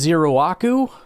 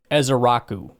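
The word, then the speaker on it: Ezeiruaku: out of Boston College that's one where there's a lot of letters that you just don't say. It's Ezaraku. So, get rid of the I and the and the first U.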